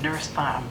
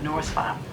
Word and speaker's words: Nurse Farm: year or so that it's pronounced Nurse Farm, not Norse Farm. I always say Norse Farm.